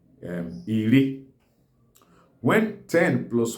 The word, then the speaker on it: iri: So when 10 stands alone, it's pronounced as Iri.